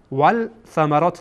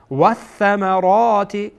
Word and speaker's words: والثمرات: وث وث یعنی ول ول ثمرات نمیخوانین، اشتباهه. ول ثمرات اشتباهه چون ثا از حروف شمسیه هست، یعنی که واو مستقیم یعنی لام هیچی میشه، لام تلفظ نمیشه، مثل که در زبان